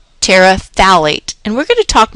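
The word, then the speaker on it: phthalate: polyethylene talate polyethylene talate notice this talate the pH is silent talate and we're going to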